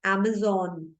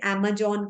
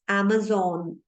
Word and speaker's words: Amazon: Amazon. बट लोग इसे Amazon कहते हैं. ज साउंड नहीं है ज में, इट्स Amazon.